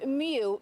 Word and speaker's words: Mu: The Mu variant, which is pronounced Mu, not Moo, is the latest COVID strain infecting San Diegans.